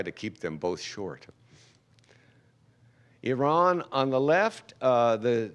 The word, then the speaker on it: Iran: me to distraction that these two countries are each just two syllables and most Americans mispronounce both of them so if you would repeat after me ear Ron Iran Iran now a good ear